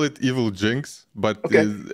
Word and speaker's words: Evilginx: I call it Evilginx, but Okay. it's also fine if anyone calls it Evilginx, Evil Gen X or whatever.